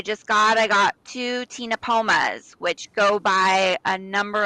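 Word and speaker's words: Ctenopoma: called again they're called tina pomas with a c so the c is silent so it's c t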